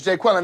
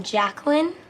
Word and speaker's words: Jacqueline: Garvey who has some interesting uh ways of pronouncing people's that's that's correct Jay quellin it is where's Jay quellin at no Jay quellin here uh do you mean Jacqueline okay so that's how it's going to be